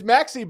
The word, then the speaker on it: Maxi: go call him Moxy I thought he pronounced his name Moxy is it Maxi I thought it was Moxy it's Maxi but you know what I